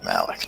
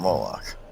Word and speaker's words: Moloch: Malik, not Moloch. Okay, so you've mispronounced the name of your god. No, we need to serve Moloch together.